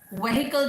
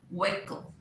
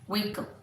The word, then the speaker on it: vehicle: सो इट इज व्हीकल जो हमने सीखा था. व्हीकल, व्हीकल नहीं, व्हीकल. बोलिए. यस, व्हीकल. Next is PHOTOGRAPHER.